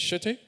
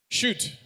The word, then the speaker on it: Shutte: Nigeria, Is it Shutte? Where's? How you doing? Did I get the last one right? Almost. And what's the correct pronunciation? Shoot. It's spelled S-H-U-T-T-E.